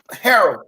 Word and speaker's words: Harrell: I always say his first name wrong. Montrezl Harrell. Harrell, thank you.